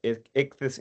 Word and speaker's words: Ichthys: Ben Holiday, entering an appearance on behalf of Ichthys Energy in case number 25650 only.